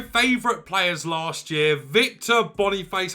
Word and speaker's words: Boniface: players last year Victor Bonny face I actually called him Bon fat say last year but I know it's not how you pronounce his name very close to leaving